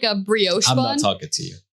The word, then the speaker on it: brioche: know i think it's brioche really i didn't know that i think it's brioche but anyways um i might sound dumb but i'm pretty positive that's how it's pronounced but that's awesome um